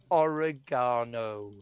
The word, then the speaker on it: oregano: Oh, and you also need to learn how to pronounce basil and oregano. It's not difficult. I pronounce it oregano. I'm still going to pronounce it oregano. Anti-penultimate syllable, like the Romans.